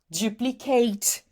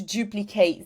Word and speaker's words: duplicate: We want to say passionate, accurate, duplicate, and no, you're not going to pronounce the eight. So, if it's an adjective or if it is a noun, you're not going to pronounce the eight. If you're saying, if you're using a verb, then you can, for example, I want to duplicate this page. Fine. It's being used as a verb.